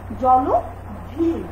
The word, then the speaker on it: জলধি: এই অ থাকার কারণে সেই অয়ের উচ্চারণ কিসের মতো হয়ে গেল? অয়ের মতো না হয়ে ও এর মতো হয়ে গেল। যেমন জলধি হয়ে গেল কি জলধি, জননী ঠিক তদ্রুপ ভাবে